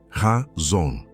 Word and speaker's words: chazon: A palavra é chazon, se pronuncia razon.